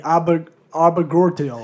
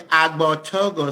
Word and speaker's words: Agbortogo: Abigort. He g he you gave up after the second letter. Okay, let me help you. Abogo. So the first G is silent.